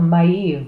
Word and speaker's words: Maeve: So in the second row here, This one here, hard to pronounce. It's called, she's called Maeve, okay?